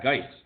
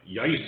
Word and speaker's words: Geis: Did you say Geis with a hard G? Yeah, Geis. Was it pronounced some I thought you said like Yice or some crap.